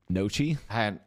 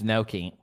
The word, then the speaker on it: gnocchi: Nikki, how would you really pronounce that one? Nochi? Nochi. Oh, Nochi. Stop. Fire. Stop. Noki? You said it like four times, and you still haven't said it right. It's Noki.